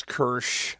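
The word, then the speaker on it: Kiersch: This is the directed by France Kersh. That's how you pronounce the last name.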